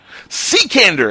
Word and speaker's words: Cekander: and your last name how do you pronounce it sir because I know I butch ain't Canada Sikandar I was so far away from that and